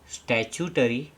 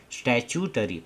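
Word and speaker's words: statutory: स्टचटरी देखिए इसको कैसे प्रोनाउंस करते हैं। स्टरी इसको टू प्रोनाउंस नहीं करते हैं। इसको चू प्रोनाउंस करते हैं। स्टचटरी रिक्वायरमेंट्स।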